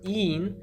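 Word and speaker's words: -ene: So a double bond is written as ene, en, pronounced een, and a triple bond is written as ein, yn, pronounced ein.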